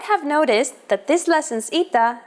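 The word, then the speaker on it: ήτα: complicated history of ITA at first it is generally believed to be pronounced like a long version of Epsilon and sounded like e after the Classical period however it sounds started to change and merged with Yota as did another letter trust me you don't want me to go on just learn them as e like all Greeks and you'll be perfectly fine so do you want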